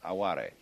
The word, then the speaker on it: aware: And so there is also another mood still akin to this which in Japanese is called aare. It's spelled like our word aware only pronounced aare.